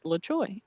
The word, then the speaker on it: LaTroy: And so basically, we had a little team of people around my desk, and we all learned how to say his last name, and it's LaTroy.